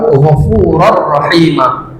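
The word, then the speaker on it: غَفُورًا رَّحِيمًا: Wallahu ee lafaz jalalah juga dibaca tebal gfurar rahima. Tidak dibaca ron tapi r. Karena ini idgham bila ghunah. Dimasukkan tanwinnya ke rnya tapi tidak didengungkan tidak lama ya.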